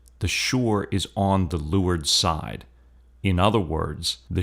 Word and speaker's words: leeward: terms Windward and lward that's spelled Le W Rd but it's not Leeward it's lur Windward means in the